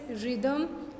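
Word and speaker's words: rhythm: Next is रिदम, राइम. तो यहाँ पर भी रिदम RYTHM, H is silent and rhyme again H is silent.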